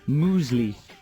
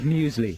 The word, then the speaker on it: muesli: people how about uh mu musli instead of muesli yeah moosely is that a